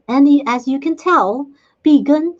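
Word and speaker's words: 碧根: as you can tell vegan sounds very similar to the english pecan so that's where we got it that's what we got the mandarin name for that we use the similar pronunciation vegan to refer to pecan and then we state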